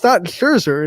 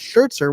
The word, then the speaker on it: Scherzer: It's not Scherzer, it's Schertzer with the T, so I couldn't.